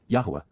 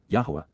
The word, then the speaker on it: Yahweh: correct and therefore acquitted, Yahweh, Yahwa, the proper pronunciation of the name of Eloha, God as directed in his Torah, teaching regarding his higher